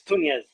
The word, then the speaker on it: Tunez: Yeah, it's like Nunez but with a T instead of Okay. an N.